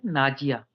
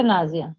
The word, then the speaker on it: Naziya: Am I right pronunciation of your name? Naziya. Not a Nazia.